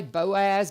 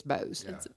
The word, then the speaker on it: Boaz: El that's Bowman okay people will say Boaz but if you're from West Kentucky b o a z it's Bose yeah B in Montana